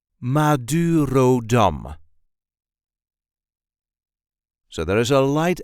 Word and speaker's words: Madurodam: all of the main attractions in the Netherlands Maduro Dum this is the way we say Maduro Dum Maduro Dum so there is a light emphasis on the last syllable Maduro dum Mur Ro Dum Maduro Dum you can find